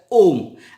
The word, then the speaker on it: Om: This alphabet in Hindi and Sanskrit is pronounced as Om, and Om is the sound which is attributed to the universe.